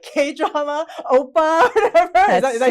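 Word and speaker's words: 오빠: move to Korea and find their like K-drama oppa, whatever.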